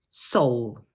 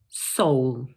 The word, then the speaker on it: Seoul: So this word is just one syllable, and in British English, it's pronounced Seoul. Let's say that one more time. Seoul.